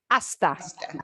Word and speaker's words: hasta: Okay, let's take another look at a silent H word. Hasta. Hasta. You've already heard this a lot. Hasta. Hasta. We ignore the H.